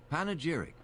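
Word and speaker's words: panegyric: Panageric. Okay. Well, I got the pronunciation correct.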